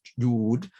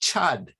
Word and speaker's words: Jud: I said to her, "It's not pronounced Jud, it's pronounced Chud, Chud. You have to, they don't have that ch sound."